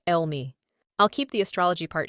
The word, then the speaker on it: Eul Mi: V's daymaster is Yin Wood Goat, and in Korean Saju it's pronounced Elmi.